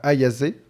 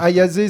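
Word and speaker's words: Ayase: euh en gros c'est deux lycéens euh Momo ayazé c'est ça comme ça se prononce ayazé ouais et Ken Takakura parce que c'est son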